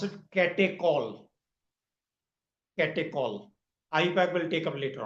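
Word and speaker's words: catechol: We pronounce it ketall.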